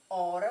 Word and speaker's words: hora: sentido e escrita diferente isso porque a letra h ela é muda ou seja não tem som realmente quando vocês vão